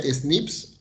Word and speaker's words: SNP: los schnitt se llaman se dice se pronuncia snips que son los snp